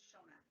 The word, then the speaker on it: Shona: My name is pronounced Shona, Shona, or Shona.